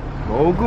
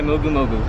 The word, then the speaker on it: Mogu Mogu: Mogu Mogu. Crowd being sponsored by Mogu Mogu.